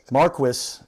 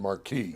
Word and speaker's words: Marquis: Marquis Marqu M A R Q U I S. That's the American pronunciation.